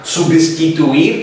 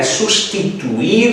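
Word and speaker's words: sustituir: Lo mismo tendríamos con el verbo concluir, concluyo, concluyes, concluye, concluimos, concluís, concluyen, substituir, prestar atenção para não pronunciar substituir, porque não tem B, é substituir, substituição, e os derivados sustitu alguma coisa.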